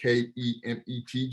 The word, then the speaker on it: Kemet: So one thing with Kemet, they don't really deal with vowels, how we understand vowels to be. So the actual spelling of Kemet, even though I spell it K-E-M-E-T just for our language, is actually K-M-T, right? It's Kemet.